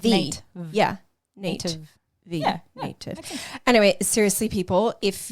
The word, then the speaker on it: Nat'v: It's not spelled like native. It's N-A-T, like apostrophe, like Nate. Yeah. Native.